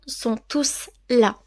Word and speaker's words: tous: rôle dans la phrase si le mot tout est en pronom on prononce le S si le mot tout